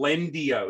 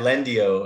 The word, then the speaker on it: Lendio: how do you spell lendi o is it yeah lendio uh it's l e n d i o almost like the it's almost like the spanish pronunciation of the word uh but yeah lendio